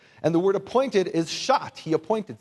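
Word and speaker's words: sha'at: And the word appointed is Shat. He appointed. Say Shat.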